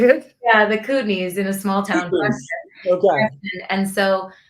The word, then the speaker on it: Kootenays: is that how you say it yeah the Kootenays in a small town okay and so um